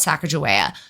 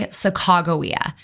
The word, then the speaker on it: Sacagawea: to correct some misinformation that's out there about Saka Jaa just in case you've heard it before I'm